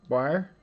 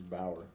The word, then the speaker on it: Bauer: Boyer? It's Bauer.